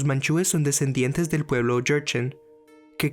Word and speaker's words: Jurchen: son descendientes del pueblo jurchen que creo que se pronuncia cherchen pero se escribe con una j al menos en inglés